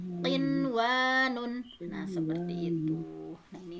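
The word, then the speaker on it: قنوان: Jadi tidak dibaca aduya, buyanun, siwanun, tiwanun, tetapi dibacanya izhar atau jelas. Adunya, bunyanun, sinwanun, tinwanun.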